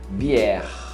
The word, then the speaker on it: bière: Cerveja, bière, bière. Você não pronuncia bière, igual muita gente fala que fala francês, é só você forçar na última.